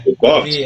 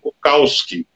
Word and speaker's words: Bukowski: de origem alemã, né, geralmente o W tem som de V, você diz? É, Bukowski, V. Né? É. E aí, mas nos Estados Unidos, e muitos aqui também, pronunciam Bukowski, onde o W ali tem um som de AU, como no inglês.